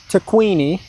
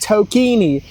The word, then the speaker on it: Taquini: James Taquini. Anyways. Oh, he just says, last name is pronounced Tokini. James Tokini.